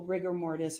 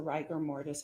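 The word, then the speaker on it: rigor mortis: you started to see I thought you said riger but isn't it ryer ryer mortis uh there's debate on the pronunciation okay so riger Morse or ryer Morse however however you want to pronounce it you took a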